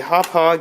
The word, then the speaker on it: Hauppauge: be quite useful for various things found a hauppauge yes that's how you pronounce that wintv PVR 150 card these are